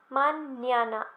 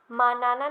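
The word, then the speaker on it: mañana: ये बताया था कि ये जो एन के ऊपर तिल्दे होता है, मैंने इसका नाम बताया था, शायद आपको याद होगा. ये जो एक्सेंट होता है इसके ऊपर थोड़ा सा है ना, इसे हम बोलते हैं तिल्दे. ओके, तो इसकी साउंड क्या निकलती है जब ये एन के ऊपर होता है, मान्याना, एन्ने. राइट, मैंने आपको बताया था, याद होगा आपको. तो आस्ता मान्याना, मानाना नहीं बोलेंगे, इसे मान्याना बोलेंगे.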